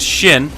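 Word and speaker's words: 四: The number 4 can be considered unlucky in Japanese culture because it's pronounced Shin, which is also a way of saying death.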